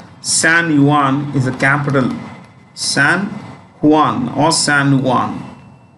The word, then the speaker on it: San Juan: San Juan or San Juan. J is pronounced H.